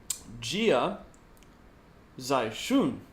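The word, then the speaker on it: Jia Xichun: Let me go over how I pronounce this again. Jia Zaishun.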